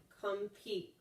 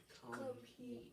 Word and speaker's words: compete: P is a consonant, divide after, M, accent the second syllable. And you can go, put your hand on your chin, compete. compete.